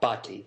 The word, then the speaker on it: Bhatti: how do you say your name sir uh bti is my last name okay thank you Dr